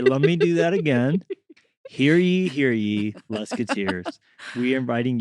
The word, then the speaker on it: Hear ye: So here here here here be Wait, how do you say it? Here be here be No, no. What is it? Hear ye. Hear ye. I keep saying here be.